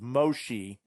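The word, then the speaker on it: Moshe: of adds up and one of the more traditional pronunciations of Moses is Moshi which then leads closer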